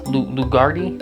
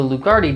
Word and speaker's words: Lugarti: diet the guys over at lugardi gecko diets lugardi lugardi i thought i said it wrong i